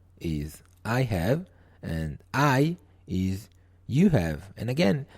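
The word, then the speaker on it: hai: is I have and I is you have and again the H it is written h a i but it is not it is not pronounced as high but I I O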